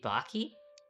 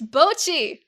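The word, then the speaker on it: Bocchi: You say Baky. You said Botchi. Well, no, but you said Baky. It's Baky. It's Bochi.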